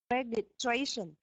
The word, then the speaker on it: registration: Registration. Yes. So the reg is reg. So it j sound registration.